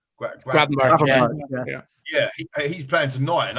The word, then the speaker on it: Gravenberch: I was going to say, because he's playing tonight, I can't pronounce his name. Is it Gravenberch? Gravenberch, yeah.